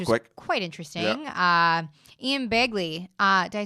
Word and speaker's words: Begley: Ian Begley. Did I say it right? Yep, Ian Begley, from SNY.